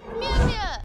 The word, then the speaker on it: Mjolnir: With Thor, it is of course Mjolnir, which I always pronounce wrong. Mjolnir.